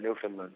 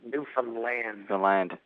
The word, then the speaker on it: Newfoundland: It hurts my mouth to go Newfoundland. Newfoundland? First of all, because I'm from Boston, so it's just Newfoundland. It's just easier for me to say. That's what most people say. Most people say Newfoundland.